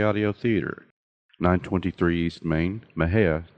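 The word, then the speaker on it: Mexia: theater 923 East Main Maha Texas my hair is spelled m x i a the zip 76667 6667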